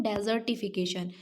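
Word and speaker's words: desertification: क्या बोलते हैं तो उस प्रोसेस को बोलते हैं डेजर्ट इफिकेशन okay डेजर्ट नॉट day fourteen is डेजर्ट इफिकेशन तो स्पेलिंग में भी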